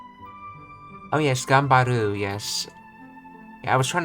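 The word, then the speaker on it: 頑張る: Let's see how that's pronounced. Oh yes, Gambaru, yes.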